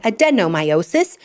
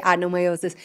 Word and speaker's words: adenomyosis: work for adnomiiosis or depending on where you are in the world you might say adenomiiosis which is how it's spelled so it kind of makes sense but in the United States we say adnomiiosis.